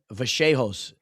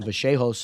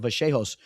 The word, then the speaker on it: Vallejos: I was pronouncing him Kevin Vehos and then people were making fun of me. You know, I try to is Kevin. Well, that whenever you're watching the broadcast, but when you watch the broadcast, they they pronounce it vaseos. I think that's like the actual way, you know, like maybe that's how you say it in like Spanish.